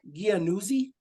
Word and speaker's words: Giannuzzi: Is that Giannuzzi? Am I saying that right? They don't have to come on camera. I'm just curious if I'm saying it right. Giannuzzi? Januzzi. Yeah. Yeah. Right. Okay, so it almost sounds like there's a T in it.